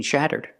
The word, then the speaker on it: shatter: Shudder and shudder are pronounced the same, but shatter makes a different sound because the vowel is a short ah sound.